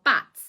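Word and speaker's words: batts: Now, bats is what this is.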